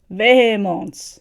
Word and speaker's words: Vemod: And this is Vemod, I think is how you say their name. Let me see, because let's just play it here. Vemod.